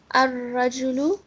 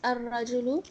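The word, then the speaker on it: الرجل: Al-rajulu becomes ar-rajulu.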